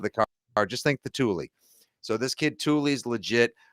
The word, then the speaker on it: Tuli: Tuli, they everyone just calls him Tuli. Just think of the name of the bike rack that you see all the fancy cars driving